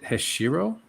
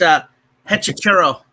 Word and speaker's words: Hechicero: So I guess the next match here is MJF versus, is it Hashiro? It's Hechicero. Okay, Hechicero. Okay, Hechicero. You got to say it like it's Spanish.